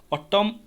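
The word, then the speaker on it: autumn: ऑटम एन तो हूँ आम साइलेंट रही जाऊँगी एन आम प्रोनाउंसिएशन करूना तो ऑटम।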